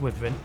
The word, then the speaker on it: Wyvern: Wyvern Riding, I just changed my pronunciation of that, it's Wyvern.